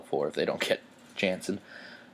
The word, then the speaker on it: Jansen: if they don't get Jansen. Or Jensen, I think it's actually pronounced.